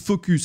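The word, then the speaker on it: Fooocus: Vous allez sur Focus. Alors, précision, Focus, ça s'écrit F-O-O-O-C-U-S.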